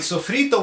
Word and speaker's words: sofrito: i'm talking about is sofrito phonetically worded the way spell s-o-f-r-i-t-o sofrito now sofrito is an